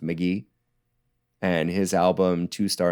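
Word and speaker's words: Mk.gee: GE E or he says it's said it's pronounced McGee and his album Two Star in the Dream Police came out recently and I just love it.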